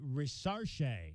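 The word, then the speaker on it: Risacher: All right, Zachary Rizache is how you pronounce it.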